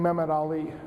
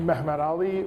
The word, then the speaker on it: Muhammad Ali: by a commander named mehmed ali or muhammad ali or muhammad ali depending on whether you want a turkish or a arabic pronunciation and he became uh